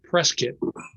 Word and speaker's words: Prescott: Okay, and if you're going to write about Prescott, you've got to know it's pronounced Prescott.